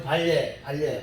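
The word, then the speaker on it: 반례: 발음이 좀 어렵긴 한데요. 반대되는 예다. 그래서 한글로는 리을 예라고 쓰고 읽을 때는 발예, 여러분 편하게 읽어.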